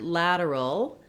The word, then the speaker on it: lateral: So first of all, the word lateral has a flap T for that T sound.